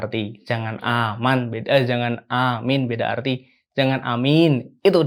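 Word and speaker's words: آمين: Alif sama mimnya itu harus panjang. Kok mimnya sih? Mim apa bro namanya bro? Kalau misalkan bacanya mi. Domah U. Fathah A. Kalau I berarti kasroh. Kok kasroh? Heeh. Mim kasroh mi. Oh nah, berarti mim kasrohnya harus panjang. Gitu ya. Jadi amin. Jangan amin beda arti.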